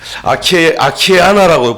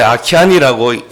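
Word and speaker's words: Akiane: 그 아이가 누구냐면은 그 아키아나라고 부르는데 아키안이라고 읽어야 되는 줄 아는데 이제 글자를 보니까 아키아나라고 이렇게 불려지는 아이인데 일리노이주 출신 아이인데 4살에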